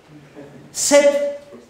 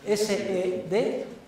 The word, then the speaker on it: sed: ne cede malis, M-A-L-I-S, tú ne cede malis, sed, S-E-D, contra, como suena, sed contra, audentior, audentior, A-U-D-E-N-T-I-O-R, audentior, ito, ito, que no es una palabra japonesa, sino latina. Tune cede malis sed contra audentior ito.